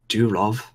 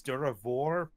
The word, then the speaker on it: Duravor: poor old, dank old Durov. I stare at him blankly. For the record, I've mispronouncing his name. It's Duravor, but I mean, fuck it. Durov is easier to say.